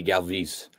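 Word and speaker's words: Galvis: player in the phillies his name was freddie galvez g-a-l-v-i-s and he always pronounced it freddie galvez and every time i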